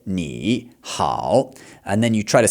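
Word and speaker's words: 你好: So, when you have two or more third tones in a row, you only really pronounce the last one as a third tone.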